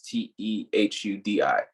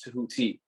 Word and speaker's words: Tehuti: Yeah, most people say Tehuti, so my name is spelled Tehuti, but people pronounce it like it's Tehudi. But so that's why I say my name is Tehuti.